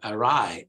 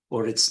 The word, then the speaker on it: awry: in the right position so you pronounce a ride notice a strange all right with it begins with the schwa Rai a rye both in English and American English arrive so you might think it's or Ori no it's not or it's arai arai and very similar pronunciation